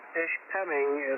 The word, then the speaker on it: Ishpeming: Lake Michigan Tom and your first pronunciation of Ishpeming is correct there's no R in there ish ping so there